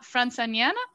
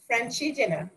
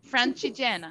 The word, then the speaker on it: Francigena: few stages into a virtual Via Franciniana? Can you tell me how? Francigena? Francigena. Francigena. I just learned how to pronounce it this afternoon.